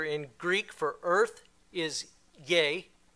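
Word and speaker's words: γῆ: Greek for Earth is yay it's actually um spelled g in Greek it's pronounced yay but this is the foundational word for like Geo geology and that sort of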